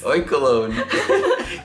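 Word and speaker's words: Oinkologne: Oinkaloni eggs. Okay, our next hit. Did you just call it oinkaloni? Like baloney? Did I? Oinkaloni. Oinkalone. Like cologne.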